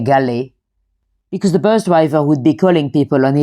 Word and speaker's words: Galle: Now the name GI, some of you might pronounce it Gaul, but local people definitely say GI because the bus driver would be calling people and he'll be shouting gi.